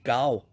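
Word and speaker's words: 九: Le 9, c'est gao.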